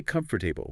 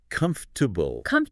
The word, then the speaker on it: comfortable: We don't say comfortable. We say comfortable. Too. It's almost like the or and the a just vanish. They get completely swallowed. It goes from 4 syllables down to 3, maybe even 2.5 sometimes.